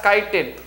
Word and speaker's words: chitin: is made up of chitin chitin chi ti-n you have to pronounce it as chitin chitin is nothing but